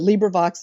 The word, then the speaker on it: LibriVox: I like that there's LibriVox. Did I say it right? Yeah. Actually, there are several ways people say it, but LibriVox is one of them, so that's fine.